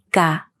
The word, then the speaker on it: Κινέζικα: Κινέζικα, Κινέζικα, Κινέζικα. Κινέζικα. Did you notice that this word is not stressed on the last syllable?